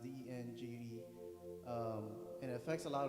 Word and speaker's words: dengue: i guess um i got this disease called dengue it's pronounced dng and it affects a lot of people like